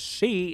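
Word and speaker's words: 四: 4 means death, because both 4 and death are pronounced as she in the Japanese language.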